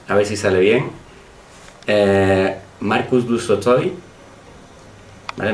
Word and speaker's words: Marcus du Sautoy: ver si sale bien, Marcus du Sautoy, ¿vale? No lo pronunciéis raro, que se pronuncia Marcus du Sautoy.